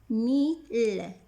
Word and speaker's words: mille: Mais I deux L ici ne se prononce pas I. Ici, on a deux syllabes. Mi et le. I complète la première syllabe et les deux L font la deuxième syllabe.